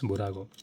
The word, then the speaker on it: Bburago: I think it's Okay, let's pronounce it as Bburago because a lot of people were correcting me. It is not Bburago, it's Bburago. So, it's okay. It's Bburago. Thank you, guys.